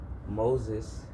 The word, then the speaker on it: Meauxzes: Moses is spelled as we do in New Orleans. So it's Meauxzes.